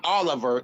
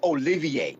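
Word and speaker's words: Olivier: Oh remember 30 ma his name is not Oliver its alleviate member pronounce pronunciate Oh Lily a ver in it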